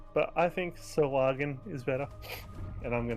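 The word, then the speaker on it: Sahuagin: Well, also for us, we have Corus Island that says Sahuagen. That's very true in like the narrator. Apparently, it is meant to be pronounced like a soft G, like the person who wants us to pronounce GIF, like GIF.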